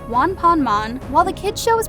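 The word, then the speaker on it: ワンパンマン: name because one punch man in Japanese is pronounced Juan ponmon while the kids show is pronounced on ponmon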